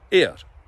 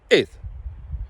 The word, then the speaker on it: air: Now, obviously people tend to mispronounce it as the English word, air. Hamiedash. But it's not air, it's ith.